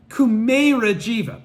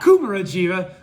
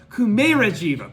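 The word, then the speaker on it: Kumarajīva: Thanks to no, I keep mispronouncing it. So now that I've tried to prefer it, Kumera Jiva. Pardon me, not Kumara Jiva. Kumera Jiva.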